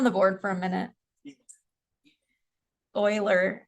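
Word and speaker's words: Euler: Oiler. It's weird. Oiler. E L E R. Uh, but you pronounce it Oiler.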